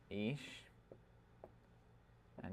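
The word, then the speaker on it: אישה: ish and isha.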